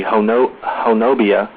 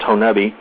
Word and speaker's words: Honobia: it's actually the the if you were to try to pronounce it the way it spelled it would be honobia but it's pronounced honeubi and uh the locals